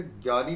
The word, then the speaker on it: ज्ञ: ही पढ़ा देते हैं कि हिंदी में इसको बोलते हैं ज। इसका उच्चारण ज्ञ होता है ज्ञ। देखिए उच्चारण तो गे होता है लेकिन इसलिए इसका विस्तार ग य और अ की तरह होता है।